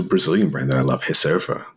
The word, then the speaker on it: Reserva: brand that I love hysterfa like um spelled like Reserva but Portuguese would like say hey and it's this little